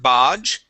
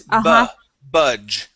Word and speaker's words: budge: Here you had said bodge. It is budge.